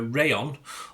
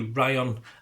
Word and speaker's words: Rayan: Well, there's two ways of pronouncing either Rayan or Ryan. So yes, we'll say Rayan Ait-Nouri.